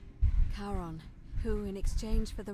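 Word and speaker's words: Charon: It's just as you described it, only your pronunciation is a little off. The name you heard wasn't Karen. It was C H A R O N as in the fairyman of the dead. Kon, who in exchange for the right coin helps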